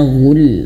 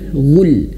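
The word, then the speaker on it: غ: Mungkin ayah bunda ee boleh lihat di video sebelumnya huruf ghain karena pembahasannya terlalu panjang huruf ghain ini ya bukan gu tapi ghu ghu ghu seperti itu ya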